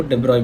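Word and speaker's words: de Broglie: इसका प्रोनाउंसिएशन जो है वो डी ब्रॉय भी होता है, बट डी ब्रॉगली भी इंडियन एक्सेंट में चलेगा.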